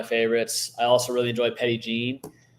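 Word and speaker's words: Petit Jean: I also really enjoy Petty Jean petite Jean that's what I that's how I pronounced it the first time I said I was going to go there to Cam and Grant I was like I'm gonna go to petite Jean and they're like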